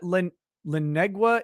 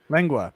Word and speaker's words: lengua: I don't know what Lenegua is.